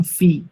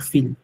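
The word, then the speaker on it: fille: যেমন আমার এটাকে আমরা বলতাম ফি, sister, ফি নট ফিল, ফি।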